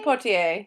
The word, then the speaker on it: Poitier: Sydney Poitier? Sidney Poitier, yes.